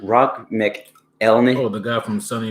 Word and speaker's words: McElhenney: Rob McElhenney.